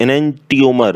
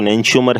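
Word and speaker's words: enantiomer: निम्न में से कौन सा प्रतिबिंब रूप एनेंटियोमर, वैसे सही प्रोनाउंसिएशन तो एनेंशियोमर है, एनेंशियोमर में के विषय में सत्य नहीं है।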